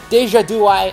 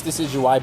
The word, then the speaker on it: Decidueye: the starters the syrian deja do i i know i'm saying it wrong i'm doing it on purpose just to trigger everyone i know it's decidueye but i'm only doing